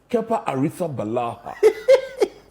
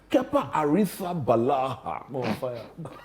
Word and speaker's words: Kepa Arrizabalaga: Kepa Arrizabalaga. You got the pronunciation of his name in the Spanish. Kepa Arrizabalaga.